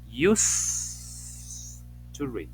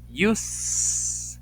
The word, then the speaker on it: used: audios no decimos uset no decimos uset decimos use Y si está la